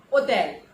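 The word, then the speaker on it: hôtel: H, so let me tell you, in French H is always silent. The pronunciation for this letter is H, and the word is hotel, but you never call it hotel in French, you call it hotel, hospital, hôpital.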